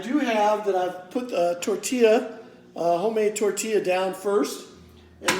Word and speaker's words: tortilla: y ll a and some people might call that torte illa but in Spanish it's actually tortilla those two L's are are with spoken as a why so today I'm going